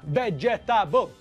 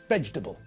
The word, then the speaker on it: vegetable: we pronounce the word we squash the middle of the word together we don't separate the parts of the word we squash them together so it's not vegetable no it's pronounced vegetable vegetable so there are